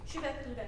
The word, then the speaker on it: Shubeik Lubeik: Wishing for Mental Health, Magical Realism, and Deena Mohamed's Shubeik Lubeik? Shubeik Lubeik. Shubeik Lubeik. Okay, thank you. I said that's how I said it. Okay, yes. Shubeik Lubeik, though it's an Egyptian novel, so I don't